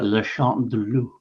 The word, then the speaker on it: Le Chant du Loup: So The Wolf's Call or Le Chant de Loup. Oh, that's actually a good pronunciation. Was it? Le Chant de Loup. Yeah. Oh, pretty close.